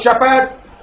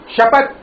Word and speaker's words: शपथ: समानार्थी शब्द होते हैं स देखो उच्चारण में थोड़ा श स का उच्चारण फर्क होता है ठीक है जब हम कहते हैं भाषा भाषा और भाषा ठीक उसी प्रकार शहर और शपथ ये जो ताल जो श है उसका उच्चारण थोड़ा सा अलग हो जाता है शपथ शहर ऐसा उच्चारण इसका होता है ठीक है शपथ पु